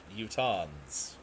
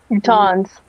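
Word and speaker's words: Utahns: but now they're just utans utans not UT but utans kind like croutons but utans I think I'm gonna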